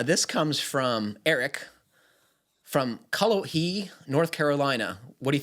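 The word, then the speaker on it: Cullowhee: you if that is that's kalahi that's how they pronounce it pittsburgh at least right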